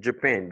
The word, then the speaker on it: Japan: You pronounce it Japan. You see the IPA symbols? L'accent, c'est sur la deuxième syllabe, pen.